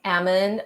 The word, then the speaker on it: almond: So what is important right here is the letter L, right? That is not pronounced. It's not almond, but almond, rather, right?